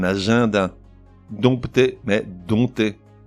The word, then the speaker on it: agenda: le mois de juin un agenda mais un agenda donc tu es mais